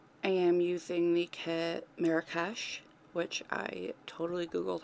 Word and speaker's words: Marrakesh: I am using the kit Marrakesh, which I totally googled how to say that, and I've been saying it right, thank God.